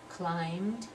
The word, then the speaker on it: climbed: we have up there that B is not pronounced so we have the M sound climbed and then changed to